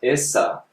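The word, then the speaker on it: Isa: So why are they speaking about Esa, which is how you say Jesus? You go to Lebanon today and they'll say Esa.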